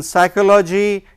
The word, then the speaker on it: psychology: For example, in pneumonia, in psychology, you can see that the word P, letter P is silent.